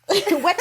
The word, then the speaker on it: Weta: Weta. Very good. I can't pronounce the most simple words.